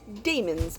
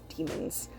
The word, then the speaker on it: daemons: I did not think that was how they were pronounced because it's spelled like D, the A-E that are connected, M-O-N, so I thought it was daemons, but no, it is demons.